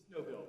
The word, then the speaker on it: Noble: court thank you Mr Noble did I pronounce that correctly no bill no bill judge uh Russell no